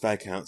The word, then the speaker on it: viscount: Yeah, it's pronounced Viscount.